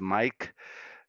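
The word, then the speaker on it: Maic: Again, that's how my name is spelled, M-A-I-C, and sounds as Mike.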